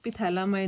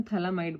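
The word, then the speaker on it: phthalimide: अपन थैलामाइड ले लिया, ठीक है, इनू पिथैलामाइड नहीं बोलना, इनू थैलामाइड बोलना है, ये पी साइलेंट है, ठीक है, PH।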